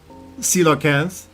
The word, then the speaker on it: Coelacanth: For a super long time we thought Coelacanth, pronounced Coelacanth.